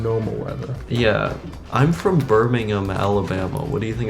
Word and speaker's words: Birmingham: you like wrecked my shit for pronouncing it Birmingham. Yeah. Yeah, that's how it's pronounced in America. Well, you can call that one Birmingham, but the one here is Birmingham.